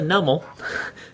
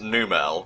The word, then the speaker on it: Numel: By the way, that was a nummel. I don't know if you guys were following it. I sure weren't. Oh, I think it's pronounced Numel, but uh Numl works pretty well now.